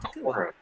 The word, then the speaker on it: Takua: And he is looking for his best friend, Takua.